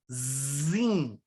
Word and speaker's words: Zin: E o outro é o deserto de Zin, com Z. A pronúncia é Z.